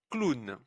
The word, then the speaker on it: clown: Un O avec un W, c'est une exception. Un clown.